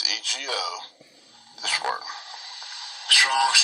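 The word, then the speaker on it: ἐγώ: So we got ha, then day, then ipon, then autos, and then ego. Now, it says say I. Okay? It's 1473, it's EGO, this word.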